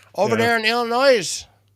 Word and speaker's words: Illinois: Get a kick out of when people pronounce the S in it. The Illinois Illinois over there in Illinois.